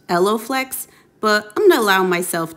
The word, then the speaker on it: EloFlex: stitch and not pop this product is called elon flex it's actually pronounced elloflex but i'm gonna allow myself to be imperfect